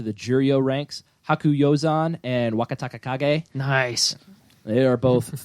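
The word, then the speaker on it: Wakatakakage: Please take care Can of you all use my it in a pronunciation. sentence? New to the Juryo ranks is Wakataka Kage.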